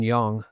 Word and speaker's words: Yang: And then Jason Yang, I say Young, I pronounced it wrong. Let me say it right. Jason Young, Mhm.